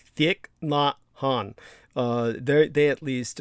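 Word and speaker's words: Thích Nhất Hạnh: yeah that's that's vietnamese the name is pronounced thick not han uh they're they at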